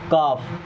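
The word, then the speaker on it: calf: काफ। अब यहाँ पे एल साइलेंट होता है।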